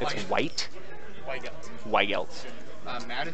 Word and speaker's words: Weigelt: white. White. Madden spelled like the game.